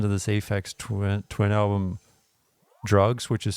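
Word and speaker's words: Drukqs: Last time I listened to this Ax twin album, Drugs, which is spelled D R U K QS, um, I had to just keep track.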